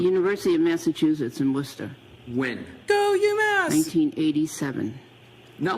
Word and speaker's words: Worcester: fine state of Massachusetts, the fact that Worcester is pronounced Worcester and it is spelled with so many additional letters was deeply confusing to me when I went to UMass Amherst.